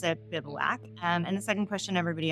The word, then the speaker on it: Bivouac: So first question everybody asks, how do you pronounce it? Bivouac.